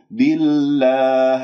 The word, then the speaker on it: بالله: خطأ هذا نبر آمنا بالله كسرة الباء أبينها ما أختلس الكسرة بما أنه اسم الجلال سبق بكسر فإذا ترقق اللام بالله ولا أقول بالله بالله هذه إمالة فانتبهوا بالله اللسان مرتاح نايم وماكو